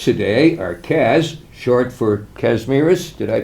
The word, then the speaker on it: Kazimierz: My guests today are Kaz, short for Kazimierz. Did I pronounce that correctly? Kazimierz.